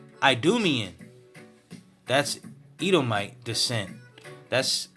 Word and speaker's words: Edomite: do me in that's Ito my descent that's how you say Itamar Ito might in Greek I do me in Edomite descent ruling the huronian Kingdom and